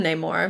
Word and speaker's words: Namor: doesn't say he doesn't he doesn't pronounce it anymore they call him name more but he's he's in the more yeah because of a conflict naming things later yes but honestly it makes more sense kind of for it to be pronounced that way well you want to